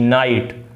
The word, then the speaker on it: night: जैसे कि आप एग्जाम्पल में देखेंगे कि जैसे NIGHT, नाइट, नाइट की स्पेलिंग में NIGHT होता है, लेकिन यहाँ पे जब आप इसको रीड आउट करोगे तो आपको ऐसा लगेगा जैसे NIT लिखा है, नाइट। हम GHT का जो साउंड, ये ऑल एंड ऑल जो होता है ये टी का साउंड निकालता है।